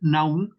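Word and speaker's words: νοῦς: la traducción de la palabra griega naum así se se pronunciaría naum se escribe Nou en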